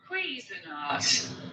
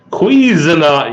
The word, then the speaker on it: Cuisinart: Cuisinart. Cuisinart.